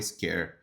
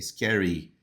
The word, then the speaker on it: scary: E observa a pronúncia da palavra scary. Tem o Y, o som de Y é mais forte. Não é scare, é scary, é I, tá? É um som mesmo de I.